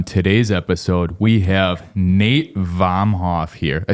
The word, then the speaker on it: Vomhof: On today's episode, we have Nate Vomhof here.